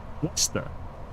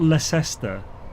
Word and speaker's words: Leicester: Lester. That's how you say it. You spelled that wrong, by the way. But it's Lester. It's not Leester.